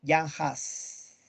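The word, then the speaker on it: Jan Hus: nada excelente maría seijas se escribe juan hus pero se pronuncia yanhaas excelente maría muy bien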